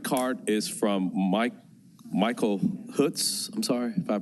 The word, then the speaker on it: Hoots: our next comment card is from Mike Michael Huts I'm sorry if I pronounced this wrong Huts h o o TS good evening and thank you for allowing us